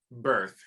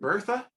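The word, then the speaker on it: Berthe: introduced to pippin's grandmother birth or is it bertha i've heard it pronounced both ways i think they say birth in the recording but i could be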